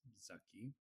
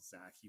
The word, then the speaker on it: Zaki: And so my name is Zaki, properly pronounced it's Zaki. I've been I've been called Zacky most of my life. And one of the things that changed recently was me actually using the proper pronunciation of my name, which is Zaki.